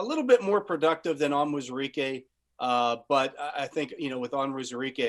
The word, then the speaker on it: Onwuzurike: Another difficult pronunciation. A lot of vowels here. Levi Onwuzurike. Onwuzurike. I worked on this one. Onwuzurike.